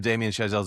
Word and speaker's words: Damien Chazelle: Even First Man, which wasn't as good as, some of Damien Chazelle's other movies.